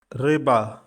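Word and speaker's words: рыба: Stress is on the first syllable. Riba.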